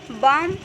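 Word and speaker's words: bomb: जैसे कि यहाँ पे देखिए बम, तो B के बाद B से पहले M आया है और M के बाद यहाँ पे B आया हुआ है तो यहाँ पे जो B होगा वो साइलेंट होगा।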